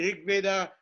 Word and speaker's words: Rig Veda: spent many years in India working on the Rig Veda. So when I say Rig Veda, he always laughs. Rig Veda, he says. Rig Veda. I cannot pronounce it, but I know what Rig Veda means, okay?